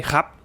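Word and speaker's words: ครับ: So if it's just a normal krap, that would be your standard, polite, and formal way to say krap, right? Now, if you add the word na, so nakrap, it just softens it a bit more, makes it a bit more of a friendlier version. And if you say khap, so you're cutting out the ra ria.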